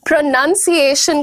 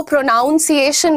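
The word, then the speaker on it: pronunciation: को देख रहे हैं बहुत सारे लोग प्रोनंसिएशन को प्रोनाउंस एशन बोलते हैं जबकि इस वर्ड में पी आर ओ एन यू एन है देयर इज नो प्रोनाउंस एशन यह नाउन है राइट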